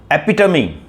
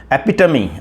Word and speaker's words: epitome: speak how that's why the nature of fiery epito m e p i t o m e is pronounced as epidemi and know until now I was pronouncing is epitom.